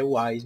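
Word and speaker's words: Houaiss: O dicionário Aurélio, o dicionário Wise, tá? E a pronúncia, por mais estranha que se pareça, é Wise mesmo.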